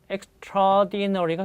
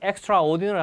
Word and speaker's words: extraordinary: extraordinary가 됩니다. 발음하실 때 extraordinary 하지 마시고 extraordinary. 그러니까 바로 이렇게 붙여서 발음하게 됩니다.